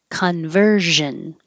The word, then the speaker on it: conversion: Conversion. And conversion. This has the zh noise. So remember, if you have trouble finding that position, make the sh first and then use sound, use voicing.